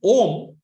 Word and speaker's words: Om: The word Om is pronounced Om, Om, Om. The later part of Om, you close your mouth, right?